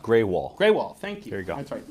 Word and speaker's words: Grewal: It's pronounced Greywall.